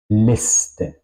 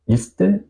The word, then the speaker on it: Liste: Liste, liste. No digo liste, digo liste.